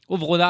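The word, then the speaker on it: Ovronnaz: Alors, il y a un Z à la fin mais on ne le prononce pas. C'est ce que m'a appris aujourd'hui mon ami correspondant suisse que je salue Avrona.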